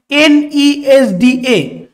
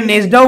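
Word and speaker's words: NESDA: 2023 সালের জন্য বার্ষিক এন ই এসডি এ way forward report প্রকাশ করেছে ঠিক আছে এটাকে অনেকে নেজডাও বলে তবে নেজডা বলা থেকে এন ই এস ডি এ এইভাবে উচ্চারণ করাটাই কিন্তু এটা বেটার ভারত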